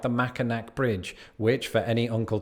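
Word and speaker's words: Mackinac: this does not include other behemoths like the macak bridge which for any Uncle toes out there is pronounced macor Bridge hard pronunciations are going to be a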